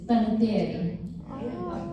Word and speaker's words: Panettiere: Panetierre and that that my last name that my mom made me pronounce Panetierre. It's Panetierre.